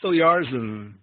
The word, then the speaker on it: Oyarzun: So please, everyone, let's give a nice round of applause to Oyarzun. Thank you, Sam, for that very nice, warm introduction. Like you said, and you pronounce my name so well.